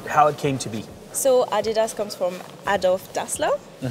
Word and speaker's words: Adidas: could you tell us what's the correct pronunciation for Adidas Adidas what's the name of the place the city